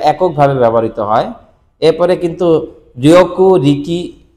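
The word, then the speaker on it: 力: আর চিকারা মানে শক্তি। চিকারা, চিকারা, চিকারা গারিমাস্কা, তোমার কি শক্তি আছে? ওই যে চিকারা শব্দটা ব্যবহার করি আমরা, এই চিকারা মানে হচ্ছে এই কাঞ্জি।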